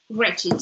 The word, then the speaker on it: wretched: And because it ends in ED and before it's CH, the sound of, we need to really pronounce the E at the end. So wretched.